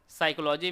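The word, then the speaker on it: psychology: जैसे यहाँ पर साइकोलॉजी में पी यहाँ पर साइलेंट है, डॉट में आपका बी है। इसी प्रकार से नॉलेज में डी जो शब्द है वह साइलेंट है, परंतु कैटल में कोई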